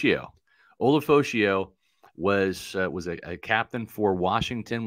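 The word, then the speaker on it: Ulofoshio: Olafoshio. There we go. Olafoshio. Yeah. Olafoshio was a captain for Washington, was their middle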